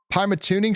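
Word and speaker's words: Pymatuning: Pimeatuning. Pimatooning State Park.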